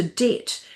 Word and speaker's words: debt: But then some overenthusiastic know it all show off scholars took this to extremes adding a B to debt to link it to debit.